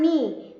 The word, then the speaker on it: knee: नाइफ, नॉट and knee, there the letter K is silent, right? Letter K is silent, and the sound of the second letter, that is N, is appropriate, is coming, it's coming more, like knock, no, knife, na, not, knee, right?